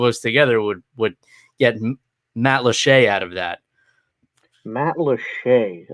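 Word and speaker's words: Matlacha: she corrected her and the pronunciation is french but the word is native american it's a weird thing so it's actually matt lachey not spelled anything like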